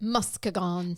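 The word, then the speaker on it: Muskegon: kind of nearest to mosan and um or as people like to pronounce it Muson so this is one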